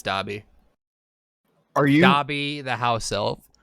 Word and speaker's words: Dobby: number one visited harry salton salty was first dobie i can't take that i'm sorry that's wrong